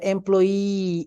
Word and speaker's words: employee: Just remember that when we have a Y, pronounce it like E. The employee, E, Employee. Yes, Mhm. not the employee. Okay, employee. Okay, like an Okay. employee, E, like E, long E.